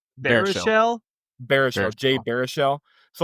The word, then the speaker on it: Baruchel: And then you have Jay Baruchel, I think is how you say his last name. Baruchel? Baruchel, Jay Baruchel.